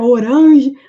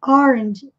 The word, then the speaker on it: orange: Parece que tem um D e um J, orange. E aqui também a questão da sílaba mais forte. Essa palavrinha também, desde o tempo de escola, a gente pronuncia orange, mas é orange.